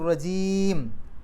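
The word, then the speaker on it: الرجيم: നിയമങ്ങൾ നോക്കാം ബില്ലാഹി മിനശൈത്താനി റജീം അവസാനത്തെ മീമിന് സുക്കൂൻ ഇട്ടിട്ട് നിർത്തുക അപ്പൊ അതിന്റെ തൊട്ടുമുമ്പുള്ള നീട്ടലിനെ നമുക്ക് ആറ് അക്ഷരത്തിന്റെ ദൈർഘ്യം വരെ നീട്ടാം അതിനെ മദ്രി എന്നാണ് പറയുക അതായത് ഒരു ആയത്തിന്റെ അവസാനത്തിൽ നമ്മളായിട്ട് സുക്കൂൻ ഇട്ട് നിർത്തുമ്പോൾ അപ്പൊ റജീമി എന്നാണ് അവിടെ ശരിക്ക് ആ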